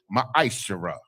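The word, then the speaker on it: מעשר: 8 8 through 10 means 10th in the hebrew and it's pronounced ma shara 10 of every penny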